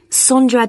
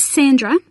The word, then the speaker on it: Sondra: your name was again sondra de costa is that sandra no it's spelt with an o so that's s-o-n-d-r-a and